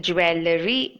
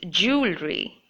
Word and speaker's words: jewelry: So tell me, how many of you have been pronouncing this word as jewellery? I think most of you have been saying it that way, but it's not jewellery, but it's jewelry. Jewelry.